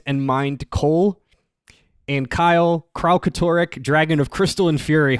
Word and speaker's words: Kralkatorrik: Dragon of Plant and Mind Cole, And Kyle, Kralkatorrik, Dragon of Crystal and Fury Harper. That's how you pronounce that word.